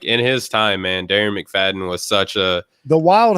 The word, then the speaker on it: Darren McFadden: you offline earlier jeff it rhymes with karen mcgladden and that was uh darren mcfadden well and it's not